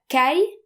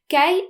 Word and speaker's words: caille: And A-I-L-L-E is always pronounced like the English word I.